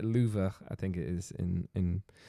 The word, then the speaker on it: Louvre: Anyway, it's pronounced Louvre, I think it is in French.